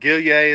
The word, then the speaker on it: Gillier: Hey, by the way, Paul Gillier, or Gilly, as people will call him in the umpire world, Gillier is how you say his name.